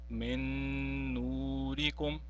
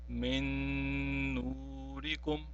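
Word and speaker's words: مِن نُّورِكُم: Now, we will not pronounce the first noon sakin, but since the second noon is mushaddad, we have to pronounce it and by prolonging it as well. Now it will be read as min nurikum, min nurikum.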